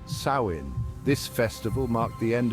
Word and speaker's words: Samhain: the earth celebrated a festival called samen pronounced sain this festival marked the